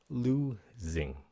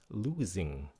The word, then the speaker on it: losing: Losing. Nếu muốn sanh điệu thì các bạn phát âm Z, losing. Okay? Nếu mà không cần sanh điệu, miễn sao có âm xì thì losing cũng được nữa, losing.